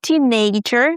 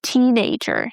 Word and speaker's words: teenager: Guys, we stress teen. Not teenager, but teenager. Next one, effort.